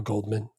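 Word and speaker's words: Goldman: Val Coleman. The D is silent. The D is silent. Well, the D is silent here in America.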